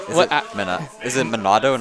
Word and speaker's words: Monado: chats going off just enough how do you pronounce monado pride Noah Lett no what is it what at minna is in Manado not monado I don't know I'm in and OH arts